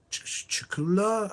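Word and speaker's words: Cthulhu: It's Chula, I think, is how you pronounce it.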